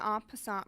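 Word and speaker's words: en passant: move to escape check it is pronounced as on in french it means in passing it is a way for pawns to capture without touching this diagram demonstrates the on passant rule this can be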